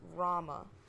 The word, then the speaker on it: Rauma: Like, it could be Althea, it could be Althea, but, yeah, so Rauma is just basically like the U is silent. It's just Rauma.